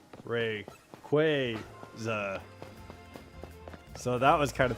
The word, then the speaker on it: Rayquaza: But at the uh at the championships, they put it on like a screen and said um Rayquaza is pronounced Ray Quaya.